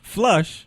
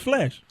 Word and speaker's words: flesh: And it's not flush. It's flesh.